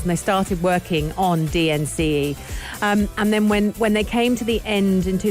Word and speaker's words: DNCE: so as it stands dnce which is how i pronounce it but you can call them dance and i'll tell you